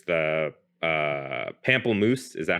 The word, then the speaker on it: pamplemousse: It's the pamplemousse.